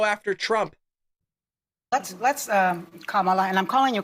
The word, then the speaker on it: Kamala: up to go after Trump let's let's um Kamala and I'm calling you Kamala because for all of those who are mispronouncing it I want you all to know